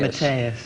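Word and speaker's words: Matthäus: Matthaus. Whichever you prefer. Matthaus. Because that's the correct pronunciation.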